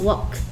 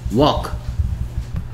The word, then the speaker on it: walk: 이거 똑같이 L이 소리 안 나요. 그래서 발음이 뭐라고요? Walk. Walk.